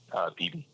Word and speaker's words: Beebe: a PH is, how do you say your last name, man? Beebe. Beebe? Like a BB gun?